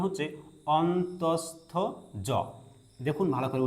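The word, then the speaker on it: অন্তঃস্থ য: এটার উচ্চারণ হচ্ছে অন্তস্থ জ। দেখুন ভালো করে উচ্চারণটা এখানে। অন্তস্থ জ অন্তস্থ জ ওকে এরপরে যে বর্ণটি আছে সেটা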